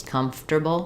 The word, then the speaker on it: comfortable: chair um so basically American don't typically pronounce this quote unquote correctly but these pronunciations have become correct rather than comforter comfortable comfortable um it's